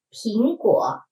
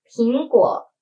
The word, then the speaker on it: 苹: Okay, read after me, 莓（没）有烦恼莓（眉）开眼笑喜上莓（眉）梢 Next, let's look at 苹果 apples. 苹果苹果 extended means: peace 平安 and 苹果, the 平 and 苹 These two sounds the same, so we can also say: 苹苹（平平）安安。